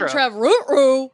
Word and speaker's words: Trevorrow: Like, no, you gotta say it like Colin Trevorrow. Ruh-roh. Yeah, like Astro. Ruh-roh.